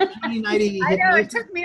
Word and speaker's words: Joni Neidigh: But pronouncing it correctly does not in any way help us spell it. It's Joni Neidigh.